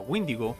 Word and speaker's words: Wendigo: Teniendo en cuenta la común pronunciación del inglés, donde Wendigo se pronuncia Windigo, no me sorprendería que estos dos seres se confundieran tan fácilmente.